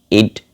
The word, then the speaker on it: id: Jadi Sigmund Freud itu membagi level psikologi dengan id bacanya gimana sih ya? Id gitu ya. Ide gitu ya. Ini bukan ide tapi ide, I dan D gitu ya.